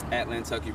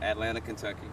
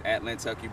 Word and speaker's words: Atlantucky: name of your Savage atlantucky Brewing is how it's pronounced not Atlanta Kentucky it's atlantucky Brewing atlanty can you talk